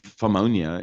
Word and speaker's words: pneumonia: The P is silent. Yeah, I know. I'm just saying pneumonia.